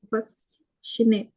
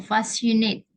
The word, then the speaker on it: fascinate: Selanjutnya, Passionate. mm-mm. Terpesona ya. Memikat, kayak gitu-gitu. Itu memang bacanya passionate atau gimana, Kak? Oh, fascinate.